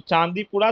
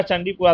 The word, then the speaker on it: चांदीपुरा: तो चांदीपुरा समझो या चंडीपुरा समझो, ठीक है, प्रोनाउंसिएशन का डिफरेंस हो सकता है।